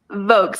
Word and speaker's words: Vocs: Uh, votes like vocals.